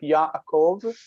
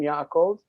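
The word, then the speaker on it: יעקב: Like Yaakov, the name Yaakov is technically a closed syllable, ya-a, and then kov.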